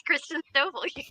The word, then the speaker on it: Christen Stovall: I know I pronounced that right. Hey, Christen. You said it right. It's Christen Stovall.